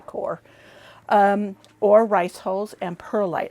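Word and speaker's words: coir: Some people call it coya. It could be pronounced that way. I don't know. I say core.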